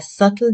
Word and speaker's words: subtle: The B is silent. The correct pronunciation is subtle. Example, there is a subtle difference between the two colors.